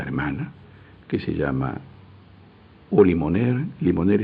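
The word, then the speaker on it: Limonaire: Limoner es esa ese instrumento que hay que darle el organito se llama limonero. Se escribe limon aire.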